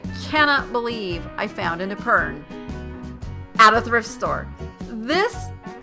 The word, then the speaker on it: epergne: And that's spelled E-P-E-R-G-N-E. And I used to say it Epergne, and it's not. It's Epergne.